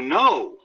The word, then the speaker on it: know: with but also to know k n o w is to understand something so the nose knows what to do so once again that k is in there and the k is silent for nose okay what's